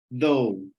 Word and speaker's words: though: nem T no final, though. Ok. Ok? Porque parece só esse sonzinho aqui do início, né? O TH, though. Na verdade, para que bota esse GH se não pronuncia?